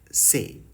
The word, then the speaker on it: c'est: C'est. C apostrophe E-S-T, say.